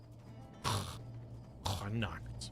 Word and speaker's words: Connacht: That's how you pronounce it. Connacht.